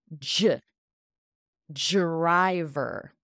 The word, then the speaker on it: driver: we push it together J driver it sounds like a j when the D and R in English come together it sounds like a j j dry dry that